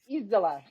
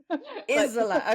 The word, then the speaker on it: Isola: you pronounce it alra I was corrected myself yesterday by a friend who knows Italian she goes Isela Isela okay yeah there we go